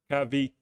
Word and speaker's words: Cavite: Maybe it's Cavite. Thank you. Breaking it down into syllables for me, that's very kind. Cavite.